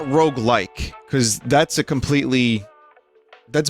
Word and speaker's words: roguelike: why we went with roguelike it's two syllables and the word rogue based on the game rogue where you die and